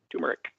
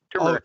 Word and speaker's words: turmeric: Turmeric. That's a spice. That's also the name of the guard. Turmeric.